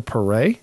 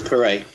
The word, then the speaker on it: Paré: And this week we're reviewing 1984's Streets of Fire with Michael Paré. Is that how we decided if we're going to pronounce it? Yeah, that's Paré.